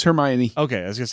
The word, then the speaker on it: Hermione: say Hermione, which is probably not how it's pronounced, but this is a post it's Hermione.